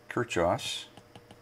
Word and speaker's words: Kirchhoff: going to talk about kirchhoffs it's actually double h it's a uh unusual pronuncia spelling k-i-r-c-h-h-h o f f